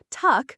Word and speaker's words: tak: "Tak," she said proudly. "Tak," pronounced like tack, means thank you.